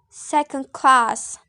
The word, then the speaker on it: second class: for example in the word second class so the the primary stress is class and secondary stress is sir next is the compound